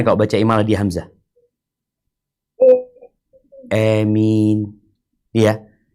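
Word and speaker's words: آمين: di Hamzah Amin Iya jadi bacaan imalah itu kan antara fathah sama ya ya e jadi baca Amin ini terus nulisnya Seperti apa mungkin iya tulisnya bukan a ya bacanya bukan a karena disebutkan ini Bil imalah dengan mad jadi di imala tapi dipanjangin ini seperti yang pertama yang pertama enggak pakai imalah yang ketiga ini pakai imalah Amin coba dibaca yang ketigain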